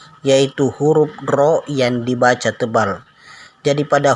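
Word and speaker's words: ر: Pengucapannya diikuti bibir agak maju. Jadi kalau kita menyebut huruf ro, maka bibir agak maju. Ro, bukan ra, tapi ro.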